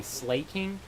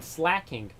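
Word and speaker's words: Slakoth: then there's um slacking I used to always say slay King but then I started saying slacking because it gets slack off slack King I thought that made more sense but nothing here we'll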